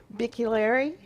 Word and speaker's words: Bicchieri: talked to her beforehand did I find out the correct pronunciation for sure it's Vicki Larry all right all right